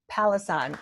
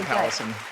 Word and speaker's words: Pallesen: So this week I have Pallesen. Am I saying it right? That's right. Yep. Pallesen.